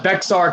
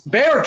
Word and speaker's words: Bexar: where he said where he constantly said bexar county and i'm like you idiot it is bear county not bexar county i'm like don't use